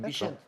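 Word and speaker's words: Bixente: On dit Bichente.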